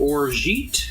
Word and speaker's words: orgeat: It's 2 ounces of freshly squeezed orange juice, 1 ounce of freshly squeezed lemon juice, half an ounce of orgeat. Is that how you pronounce it?